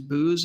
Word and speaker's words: Boos: is uh charles uh i think the pronunciation is booze is that the last name is that correct julia yeah so charles boos who is married to